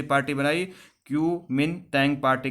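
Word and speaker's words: Kuomintang: जिसका नाम था क्यूनो, देखिए प्रोनाउंस करना थोड़ा मुश्किल है, क्योमिनतैंग पार्टी, क्योमिनतैंग पार्टी, जिसे first nationalist party of China भी कहा जाता है।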